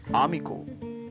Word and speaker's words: amigo: So letter A pronounce as always R sound, R sound. Amigo, right?